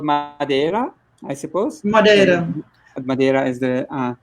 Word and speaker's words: Madeira: so it's an island called Madeira I suppose Madeira Madeira is the right pronunciation and you're in a village of these